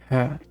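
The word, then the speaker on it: hö: What did you know that the Swedish word for? Hey, as in the grassy thing is her. I guess it's not pronounced exactly. It's more like her.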